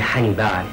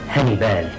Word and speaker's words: حنيبال: مولاتي، أنا عيلامي، أسماني أبي حنيبال، أي العبد المنحني أمام بعل، وينطقها الحثيون هنيبال.